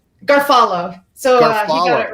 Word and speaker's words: Garofalo: Is it pronounced Garofalo? Garfalo.